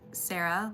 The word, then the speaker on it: Sarah: Yeah, so one of my cousins, her name is spelled Sarah, like S-A-R-A-H, but it's Sara, so I was wondering if it was similar.